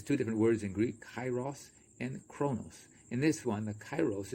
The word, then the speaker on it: Kairos: children know god so cairo what does it mean actually it's pronounced kairos in the greek or that's a closer pronunciation but we pronounce it kairos the perfect delicate crucial